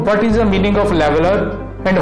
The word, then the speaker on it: lavalier: Yes, I find a YouTube video of it pronunciation. Lavalier.